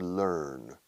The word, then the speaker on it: learn: Fíjate en la pronunciación de learn. Learn. Repito como siempre, rima con burn, quemar.